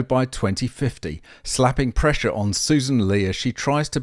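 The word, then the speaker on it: Sussan: Well, she puts an extra S into her name, but it's pronounced Susan.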